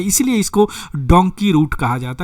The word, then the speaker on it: Dunki: Donkey जो है पंजाब में, इसका पंजाब का रीजनल प्रोनाउंसिएशन होता है डंकी, एक्चुअली यह डोंकी होता है।